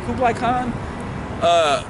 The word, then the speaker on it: Kublai Khan: Kublai Khan.